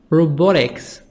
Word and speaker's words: robotics: Four, robotics, T soft D, between two vowels, O and I. Robotics, the science of making and using robots. British robotics, British. American robotics, T soft D and O as a sound in American.